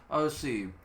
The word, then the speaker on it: Osim: This term would appear to be the source of the word Essenes, for the collective form of Osir HaTorah is Osim, pronounced Osim.